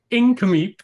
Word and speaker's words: Nk'Mip: other than Justin Drake Hall wine maker at incom Sellers DC how are you today sir awesome you even pronounced the name right which I'm very very